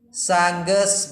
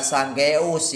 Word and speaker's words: sanggeus: Kemudian sangges maung. Sangges maung. Sangges maung. Dibacanya sangges maung. Bukan sanggeus ya. Bukan sanggeus, tapi sangges maung.